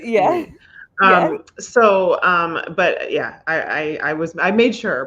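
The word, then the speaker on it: Ehle: So I double checked because I want to say Ailey, but it's Ailey.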